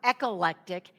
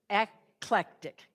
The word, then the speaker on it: Eclectic: So, another town you've probably heard of is this one, and it's not echollectic. It's only three syllables. Eclectic, which is a word,